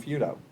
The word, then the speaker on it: Feudo: gone through life with the last name feudo and it gets pronounced 12 different ways and yet if you take out the O you certainly look at it and say oh it's Feud I mean that's what my mother used to say she used to say it's Feud with a note everybody can say that